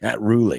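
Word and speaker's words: Rhule: Matt Rulie. Matt Roelly. That's good. Matt Ry.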